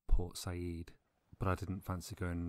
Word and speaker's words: Port Said: and was part of I have pronounced one of the port names in Egypt incorrectly I say Port Said when I really mean Port Sayid but I didn't fancy